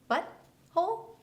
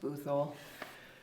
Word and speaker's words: Butthole: Butthole was your husband? It's pronounced Boothole.